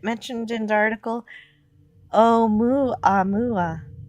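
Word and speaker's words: ʻOumuamua: Oh, Mu Amua is how it is pronounced. The first interstellar object discovered. But the the first two letters in that were o u which sometimes is pronounced wah. So it could be wuam mua.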